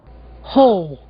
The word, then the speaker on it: whole: Ouçam agora dois casos de palavras bastante usadas onde o W não é pronunciado. Whole?